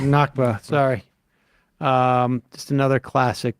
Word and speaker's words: Nakba: 6 foot bear uh did I say navka at the beginning you did nakba sorry um just another